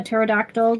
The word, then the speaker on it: pterodactyl: can't you hear a a pterodactyl going into the bathroom because the p is silent that was interesting